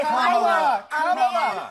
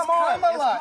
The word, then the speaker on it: Kamala: Let me actually pronounce her name right. Kamala Harris. If Kamala. You said we don't call you Nancy. It's Kamala.